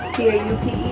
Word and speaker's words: taupe: T-A-U-P-E, Taupe, that's how you say it.